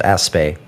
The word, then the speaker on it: Aspect: with the aspect experiment which is pronounced aspay bodies in Delight in